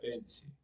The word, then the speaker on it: ensi: Eh, Patesi se pronuncia ensi.